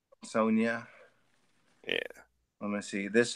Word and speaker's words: Sonja: know a lot of No, no, it's pronounced like a Y, like Sonia. Sonja.